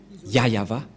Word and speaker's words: Yahvah: Et donc c'est bien la vraie prononciation de son nom, Yayava.